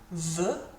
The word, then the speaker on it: veut: Veut, with a T on the end. Pronunciation-wise, it's exactly the same.